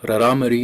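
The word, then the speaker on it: Rarámuri: Also known as the Tara Amara, but Raramuri is how you say it.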